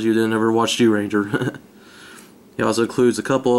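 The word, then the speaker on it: Zyuranger: Of course, it is the Red Ranger from the first series Mighty Morphin, or from the Sentai series Jew Ranger. By the way, that's spelled with a Z for those of you who don't know.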